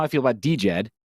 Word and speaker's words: DJED: how I feel about DJ Ed uh Jed spelled with a d at the beginning is kind of like